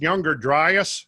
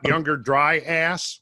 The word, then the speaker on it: Younger Dryas: wet butts is that it's pronounced Younger Dryas not younger dry ass we don't necessarily have